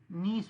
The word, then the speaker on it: niece: सर नाइस। नीस पढ़ते हैं उसको, नीस। नाइस नहीं निस पढ़ते, निस निस।